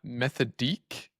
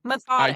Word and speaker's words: Methodique: They just launched Methodique. Is that how you pronounce it? I guess it's like Method methodic. IQ. Oh, I think it's like methodic, but with an IQ instead of IC.